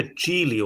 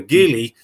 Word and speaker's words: Geely: Yeah, Geely or Geely, depending on your pronunciation, but Geely is the Chinese correct way of saying it, I think.